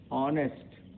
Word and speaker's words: honest: ऑनेस्ट, ऑनेस्ट में ईमानदारी है, ऑनेस्ट में देखिए ONEST, ऑनेस्ट होता है, लेकिन H यहाँ पर लिखा हुआ है, तो HONEST, ऑनेस्ट, ऑनेस्ट में ईमानदारी।